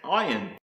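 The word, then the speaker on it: עין: The next word I want to show you is pronounced Ayin, and this is the same as the pronunciation of the letter Ayin, and it's the eye, visible surface, appear, spring, fountain, and to look.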